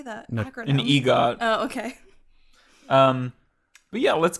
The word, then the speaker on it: EGOT: An EGOT.